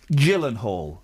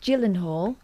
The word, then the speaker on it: Gyllenhaal: Jake Gyllenhaal. Yeah. It's a soft G.